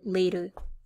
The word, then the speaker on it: later: arrived later than her and you hear that d sound in here in the word later i arrived later than